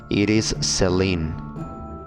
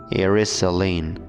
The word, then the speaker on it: Iris Sellin: By the way, the name of the mother is Iris Celine. Iris Celine. I'm pronouncing it the English way.